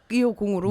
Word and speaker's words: 이오공: 네, 그래서 그냥 250으로. 네네. Oh, okay. So it's pronounced 250, and the reason why he used to write it this way is because his real name is.